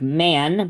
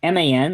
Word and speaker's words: MAN: I know it looks like MAN, but that is not correct. It is MAN. That is how it's pronounced.